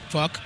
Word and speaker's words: PHUQ: They have an album called PHUQ, which is pronounced. Fuck.